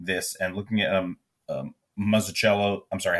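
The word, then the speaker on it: Mazzucchelli: Um, but going back and and rereading this and looking at um Mazicello, I'm sorry, how do you pronounce it, Joe? Meelli.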